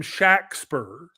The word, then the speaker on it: Shakespeare: that not only was William Shackper, which was how it was pronounced, and it was not spelled the same way the playwright spelled his name, William Shackper spelled his name.